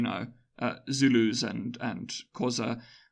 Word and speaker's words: Xhosa: uh Zulus and and xhosa now so I'm pronouncing because they're wrong because I'm really bad at the click and I don't want to do it wrong but I think that it's Osa I'm bad at clicking